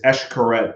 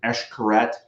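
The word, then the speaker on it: Xcaret: Um is Eshkaret. Uh it's spelled with an X. It's a Mayan word. And so there's Eshkaret, Eshkaret Artee, which is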